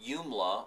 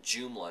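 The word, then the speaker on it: Joomla: on a platform called yla or what some people call jumla it's pronounced both ways and yla or jumla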